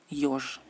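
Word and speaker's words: ёж: Al principio de la palabra se pronuncia como diptongo yo. ¿No? Por ejemplo, el erizo, yosh.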